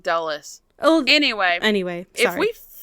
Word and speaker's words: Dulles: it may be Dallas I think it's du's airport I think they kept saying dullas oh anyway anyway if